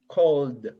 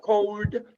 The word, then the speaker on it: called: pronunciation but remember this when you say call called called called like a final d but you don't add it no no it's not called not cold not cold because if you say cold